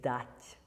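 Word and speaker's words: дать: And it can affect the T as well. So the infinitive of the verb to give is dat, dat.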